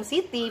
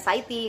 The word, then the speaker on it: Siti: Tapi sekarang alhamdulillah dari imigrasi sendiri tahu kalau Siti itu memang Siti bacanya ya, bukan Saiti kayak gitu kan ya.